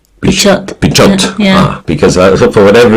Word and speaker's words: Pichot: So then I have to pronounce the T. Pichot.